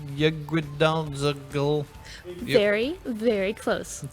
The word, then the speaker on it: Yggdrasil: So what are Norse divination cards, and is that pronounced Yggdrasil? Very, very close. It's actually Yggdrasil, Yggdrasil. the world tree. And the Say it again. Yggdrasil.